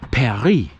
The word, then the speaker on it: Paris: name is Perry but you pronounce it a little bit wrong it's Perry p-a-r-i-s and this is true